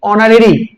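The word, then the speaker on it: honorary: তো যাই হোক এখানে আমরা উচ্চারণটা করব কিন্তু অনারেরই। অর্থাৎ এইচ এখানে সাইলেন্ট থেকে যাবে।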